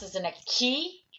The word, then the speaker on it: 気: pronounce it in a key like Reiki or Ki if you're a martial art practitioner or healing healer familiar with Reiki these pronounced as a key is something related to a Japanese culture or methodology came from